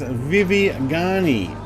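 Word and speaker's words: Vivigani: same time we will Stephen says yes pronounced Vivi Garney and wartime strip for rwf used once the Japanese got booted from it all right vivegani yeah cool it does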